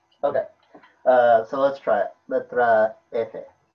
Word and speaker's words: letra: I pronounced it right. Great. So yeah, letra F, quarter note prep, and then just doing eighth note upstroke into eighth note downstroke.